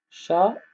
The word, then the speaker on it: chat: Le T à la fin, on ne le prononce pas. D'accord? Ne le prononce pas. Chat, c'est comme ça.